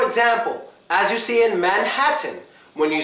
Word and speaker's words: Manhattan: it follows the rule the T becomes silent Manhattan Manhattan there are three exceptions to this the first